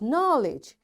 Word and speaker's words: knowledge: knee, and knuckle, and knowledge. You see, in all these words, because K is there and right after K there is N, that's why this K is silent, right?